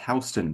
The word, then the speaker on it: Houston: Pronounced Houston because it was not founded by Sam Houston.